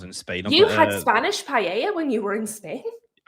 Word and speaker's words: paella: So in Spanish they have that dish and it's called paella because that's how they pronounce it. But in English it's paella. Pella. That's no if you pronounce it phonetically in English. Pella. But you don't say it like that because it's paella because it's a different bloody language.